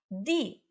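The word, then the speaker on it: 地: Di é DI, D de dado I.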